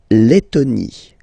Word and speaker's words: Lettonie: La Lettonie. So remember when you get this and then a double letter like that, T, okay, then you will have to open your and it will become Lettonie. La Lettonie.